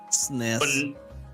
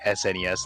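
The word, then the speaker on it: SNES: SN but now you that's how the acronym was is pronounced the SN yeah yeah yeah but like no I know that everyone just say yeah I'm so used to everyone saying s NES like there is there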